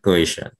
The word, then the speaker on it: coition: So I want to look at coition, if I'm pronouncing the word correctly. Yes, correct. Coition.